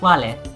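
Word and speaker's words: vale: or sanguette if it's several people goodbye is wale or walid for several people now latin has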